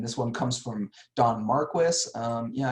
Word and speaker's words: Marquis: And this one comes from Don Marquis. Yeah, I know his last name here is spelled like the word marquee, but I've always heard it pronounced Marquis, so that's what I'm sticking with.